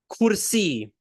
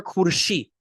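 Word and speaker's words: ખુરશી: Kursi. Kursi or kurshi. It's spelled kurshi. Some people say kursi.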